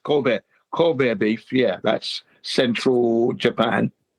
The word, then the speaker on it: Kobe: What's called Kobe is actually pronounced corbear beef.